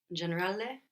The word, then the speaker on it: generale: So we have the O giving us an O sound, like in orange, and the A is pronounced A. So how would you say general in Italian? Generale.